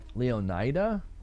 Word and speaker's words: Leonida: Leonida Leo like emphasis on the O.